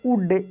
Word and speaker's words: would: है, हाउ इट वुड, WOULD को हम लोग पढ़ेंगे वुड, L साइलेंट रहता है, ठीक है ना,